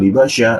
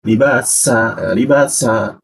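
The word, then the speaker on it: لباسا: Ini menggunakan sa pakai sya ya. Libasa atau libasya. Nah, jadi perkuat huruf sa-nya. Libasa.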